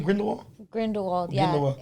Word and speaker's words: Grindelwald: Grindelwald, yeah.